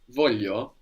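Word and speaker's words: voglio: and in different dialects the G is pronounced like a y here I want in Italian is Volo Volo voo or voo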